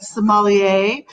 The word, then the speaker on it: sommelier: about the opinions of a certified Somali a am I saying that correctly let's just start there because I always think I'm gonna say it wrong so I say Psalm well hello thanks everyone for joining us today yes Kristin you hit it right on a Somali a